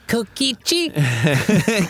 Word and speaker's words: Kokichi: It's pronounced Kokichi.